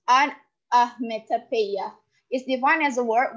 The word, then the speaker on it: onomatopoeia: Onomatopoeia, pronounced onometopoeia, is defined as a word which imitates the natural sounds of a thing.